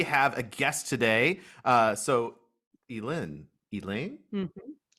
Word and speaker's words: Elin: So Elin. Mm-hmm. Elin? Elin. Elin. You said it right the first time.